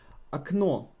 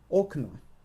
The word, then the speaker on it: окно: Окно. Окно. Окно. Again, the same rule. The first O is not emphasized because of this. We need to pronounce this A.